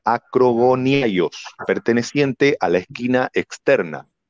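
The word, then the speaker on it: ἀκρογωνιαῖος: La piedra del ángulo en original griego se pronuncia acrogoniaios, perteneciente a la esquina externa.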